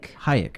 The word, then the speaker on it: Hayek: selma how do you say your last name hayek okay um apparently huge phobia of snakes yes